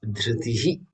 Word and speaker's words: धृतिः: there in this Devanagari, we have to pronounce the visarga exactly as it is, dhritihi, then follow that with kshama.